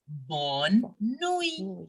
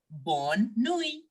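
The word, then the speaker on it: bonne nuit: French language simply as born knowing there is no sound of T in the end okay it is simply born Nui very good so this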